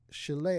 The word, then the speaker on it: Shelea: And we have the lovely and talented Shelea. I said it right? Shelea. Perfect. Okay.